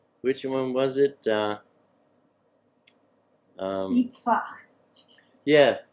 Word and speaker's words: Yitzchak: The HalleluYah Scriptures told me that I was the only one they ever met who could pronounce, which one was it? Yitzhak. Yeah, Yitzchak.